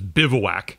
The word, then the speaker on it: bivouac: that so I'm pretty sure that's how you pronounce that is bivouac kind of expensive to activate that land I'm